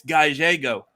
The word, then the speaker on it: Gallego: AKA the name no one can ever pronounce. I've been promoting this like all week, and I'm like, okay, it's Gallego.